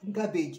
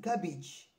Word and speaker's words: garbage: It is not garbage. It is garbage.